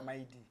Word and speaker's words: Ramaili: So l i is pronounced d. So raid.